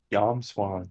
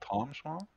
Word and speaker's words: Yomswan: Yomswan, yeah. Yomswan, okay. It's not Tom Swan? No, it's Yom. It is Yom.